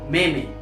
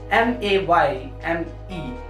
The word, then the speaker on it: meme: It's spelling is MEME, but most of the people say meme, MAYME. So this is meme.